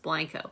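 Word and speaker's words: Blenko: was looking up the blanco it's spelled b-l-e-n-k-o but it's pronounced blanco when i was looking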